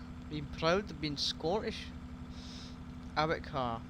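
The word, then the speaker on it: Arrochar: Eric Carr. Yeah, that's how you pronounce it. Eric Carr and Tarbert.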